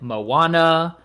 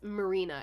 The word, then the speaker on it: Marina: through this quickly but I saw the subtitle and the name is Melina m-e-l-i-n-a oh but the way the voice actor pronounced it it sounded like Moana Mona Moana so I'm looking in the this is an English write-up it's Marina m-i-r-e Marina okay in Japanese R's sound like else okay it would be